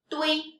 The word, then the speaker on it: 对: The, wei, dui. And this is the fourth tone, so we should pronounce as no.